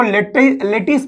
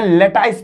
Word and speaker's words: lattice: जो पार्टिकल्स हैं इसको लेटिस पॉइंट बोलेंगे, लेटाइस पॉइंट, ठीक है। देखो लेटाइस पॉइंट या लेटिस पॉइंट दोनों सेम ही है, प्रोनाउंसिएशन का खेल है।